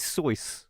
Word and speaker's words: Seuss: The correct pronunciation of Dr. Seuss is Seuss, like a voice.